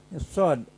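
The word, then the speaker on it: ص: Sod ini sod itu seperti kita bersiul. Sod.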